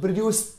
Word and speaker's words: produced: اكيد في الافعال الثلاثه لما بحط دي او اي دي بنطقها برناونس اس ت فتبقى عندي mixed mixed bleached bleached ما اسمعش بقى كلمه bleached تمام كده او الصح بتاعنا برضو produced produced ت تمام that's it.